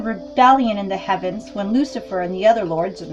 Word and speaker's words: Lucifer: It also explains the Luciferian rebellion in the heavens when Lucifer, and Lucifer is spelled L-U-C-I, like Lucy, and then fur, like F-U-R, Lucifer.